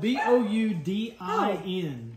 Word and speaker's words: boudin: It's spelled B-O-U-D-I-N, but it's That's pronounced good.